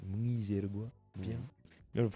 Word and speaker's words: Mwizerwa: Il s'est dit Muizerois, mais c'est Muizergois.